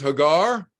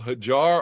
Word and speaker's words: Hagar: Miriam Mary Magdalene she was Hagar sometimes called hajjar or hajira depending if you're using the the Hebrew uh the Jews call her Hagar the um the Muslims you know take the Islamic uh pronunciation uh or Arabic sorry Arabic uh pronunciation hajira the mother of Ishmael who